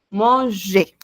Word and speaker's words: manger: Oui, no olviden, no se pronuncia la R al final de cada palabra. Bueno, en el caso de los verbos, ¿no? Cuando es ER, solamente E. Manger.